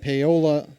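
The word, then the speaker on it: Paola: And Polola, I don't know how to pronounce that. Maybe you do. Pola.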